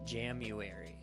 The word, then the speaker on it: Jamuary: And yes, I did not mispronounce January. I did say Jamuary. So, Jamuary, as you may be